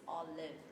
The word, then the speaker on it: Olive: Olive and so now people start pronouncing it properly okay it's all live yes yeah we're so